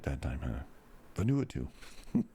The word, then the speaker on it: Vanuatu: Vanuatu. Vanuatu.